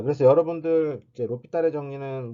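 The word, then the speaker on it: L'Hôpital: 자, 그래서 여러분들 이제 로피탈의 정리는 뭐 잘 아시겠지만 그래도 한번 해보면 영어로는 허스피탈이에요. 허스피탈. 그 다음에 우리가 그냥 발음은 로피탈, 우리가 로피탈 이렇게 읽었는데요.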